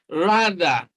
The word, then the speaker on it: rather: this question number 47 rather rather so you look at the letters on the line th it is the voiced dental sound now there are two sounds two types of dental sound this is voiced all right and this is